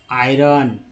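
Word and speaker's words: iron: तो ये premiere आयरन, ओ को यहाँ पर आ बोला गया है, तो आई को आई उच्चारण किया गया, आयरन।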